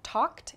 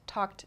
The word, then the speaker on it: talked: First is walked, second talked, and typed. So walked, talked, typed. You can hear the ED sound at the end of each verb. It's spelled ED, but the pronunciation is a T sound.